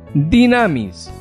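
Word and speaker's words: δύναμις: este versículo de romanos en griego es dunamis se pronuncia dynamis de donde proviene la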